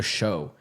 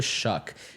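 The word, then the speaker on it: Shough: So, when he was drafted, I was like, "Oh, they took Tyler Show." But I I later learned that it was pronounced Tyler Shuck, quarterback out of Louisville.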